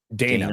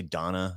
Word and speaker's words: Dana: Dana Bash. It's spelled Dana, but I think they all say Donna.